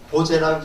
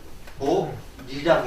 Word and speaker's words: 보리: 보제라고 읽지 않고 이거를 보리라고 읽습니다.